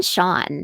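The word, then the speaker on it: Chaon: Dan Shawn is an American writer whose work I really admire.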